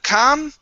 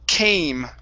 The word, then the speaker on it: came: And our last one here, instead of come, this word is pronounced came. It's a long A sound.